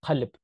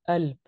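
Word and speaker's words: قلب: For example, in Arabic, the standard Arabic, you have the word qalb, which means heart. Qalb. Qalb. In Egyptian, it's alb. Like the k is turned to like sometimes, not always, but often the letter q is pronounced as a.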